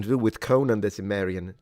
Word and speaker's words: Cimmerian: do with Conan the Cimmerian. Cimmeri. How do you pronounce it? Cimmerian in English, right? Because we say Cimmeri in Italian, but I'm sure that that's because we are Muppets with a C.